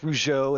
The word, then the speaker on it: Rougeau: Nicole Rigo, Kenneth Rougeau, that's how you say his name, by the way. Rougeau, nice.